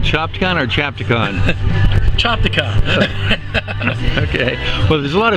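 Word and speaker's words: Chopticon: Chopicon. Okay. Well, there's a lot of people that pronounce it Chapon.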